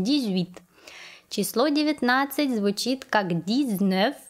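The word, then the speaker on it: dix-huit: произнесем моего как david мы помним что x перед гласным ли аж нужно произносить как зуб поэтому мы произносим дейвид число 19 звучит как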